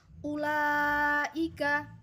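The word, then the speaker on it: أولئك: Pada ayat 16 ini wawu pada kalimat ulaika tidak memiliki harokat, berarti wawu tersebut tidak dibaca dan tidak merupakan pertanda bacaan panjang dari alifnya yang depan. Ulaika, cara membacanya seperti itu, bukan ulaika.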